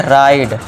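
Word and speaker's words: ride: तो यहाँ पे ई को क्या कर देंगे साइलेंट। अब देखिए फाइन, इसे क्या पढ़ेंगे फाइन, और इसे क्या पढ़ेंगे राइड, फाइन राइड।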